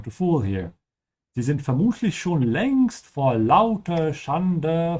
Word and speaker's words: vermutlich: Also vermutlich, make sure you pronounce it with the F sound, is presumably, vermutlich.